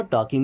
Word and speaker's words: टॉकिंग: M miss हूं टॉकिंग अब यहां प एल साइलेंट होगा टॉकिंग मीस बात कर रहा